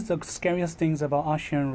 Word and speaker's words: Eshean: despite her name sound spelled as e but the pronunciation sounds as an a Asians so what do